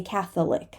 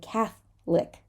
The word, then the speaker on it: Catholic: gonna say chocolate chocolate and Catholic we're not going to say Catholic we're going to say Catholic Catholic people so we have